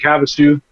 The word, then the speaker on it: Havasu: So, and or Havasupi. They have London, the original London Bridge. They have a whole Yeah. Lake Havasu.